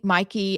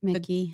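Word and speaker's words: Mikie: So, is it Mikey? I don't know what her name is. Cheryl. Mickey.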